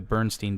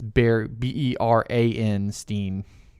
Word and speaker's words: Berenstain: the Bernstein Bears. It's the Baron. It's Beran Steen Bears.